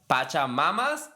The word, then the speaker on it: Pachamama: We got Alicia from Pachamamas?